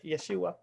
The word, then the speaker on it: Yeshua: Is that the correct pronunciation, Kerry? Yeshua.